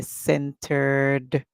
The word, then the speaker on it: centered: hear ENT Center Center we add the e we hear centered remember we going to hear the D song because we can hear at the end of the word whenever you can hear the last sound in the word that's when the Ed is going to make the D sound so self centered anyone